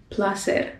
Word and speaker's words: placer: to just simplify it and the c in this case as you might have noticed is making the s sound so when you meet